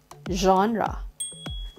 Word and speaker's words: genre: Okay, so we say genre. Genre. Next word is, how do we pronounce this?